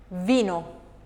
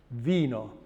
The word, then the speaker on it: vino: V is a labiodental fricative and it is voiced, V. What about an example of that letter? Vino. Vino.